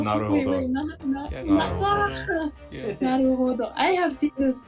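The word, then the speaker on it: 成歩堂: Why are you even on board this ship, Naruto-san? Naruto-san. Naruto. Wait, Naruhodo. Naruhodo. Wait, Yes, Naruhodo. Yeah. Naruhodo.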